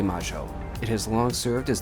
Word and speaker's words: Mayo: gorgeous buildings and sites I definitely said it wrong is argentinians pronounce it as Plaza de Maggio it has long served